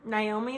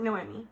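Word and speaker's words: Noemí: I thought her name was Naomi this whole time, but actually... I thought I was pronouncing it Noemi, and the only reason I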